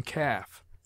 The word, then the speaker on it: calf: to the foregoing vowel L is sometimes mute as in calf half haves caves could would should